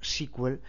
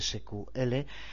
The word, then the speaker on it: SQL: sql por lo tanto que en inglés se suele pronunciar a veces como squel y en castellano simplemente sql es el lenguaje que